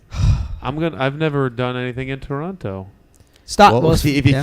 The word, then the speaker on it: Toronto: They don't pronounce it Toronto. It's Toronto. Where are you from?"